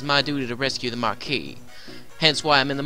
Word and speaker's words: marquis: how severe the fires the mark ass safe it's pronounced marquis the castles under attack